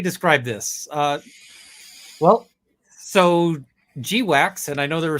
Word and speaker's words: GWACS: last time but seriously is g-wax any better you know wax rhymes with ducks but g-wax sounds like a product you get at sort of the CD uh CD sex shop so um I don't